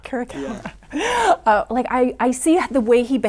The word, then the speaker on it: Caracalla: What, Caracalla, is that the correct pronunciation of your character? Caracalla. Caracalla.